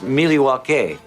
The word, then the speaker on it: Milwaukee: Actually, it's pronounced Milwaukee.